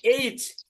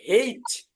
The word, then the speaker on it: H: এটা হচ্ছে এইচ, শুদ্ধ উচ্চারণ করেছেন এইচ। আরেকটা আছে, এটা হচ্ছে হেইচ। হেইচ, আমরা বলতে পারি হেইচ, হ একার, হেইচ, এইচ এবং H হেইচ, হেইচ।